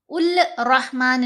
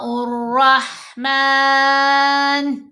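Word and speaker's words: الرحمن: कुलद उ्ला अविद उरहमान अविद उर उल रहमान नहीं पढ़ना। ये रा से पहले अलिफ और लाम दो हरूफ आ रहे हैं और दोनों ही साइलेंट है।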